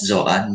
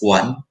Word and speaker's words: Juan: Some were actually pronouncing my name as Joanne, but yeah, my name is Juan.